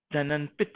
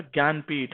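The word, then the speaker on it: Jnanpith: Akkitham Achyutam Namboodiri and the prestigious 55th जननपित award. जननपित award क्या नाम था उसका? ज्ञानपीठ, हाँ थोड़ी सी स्पेलिंग मिस है। ज्ञान, GYAN, ज्ञानपीठ, ठीक है, याद रखिएगा।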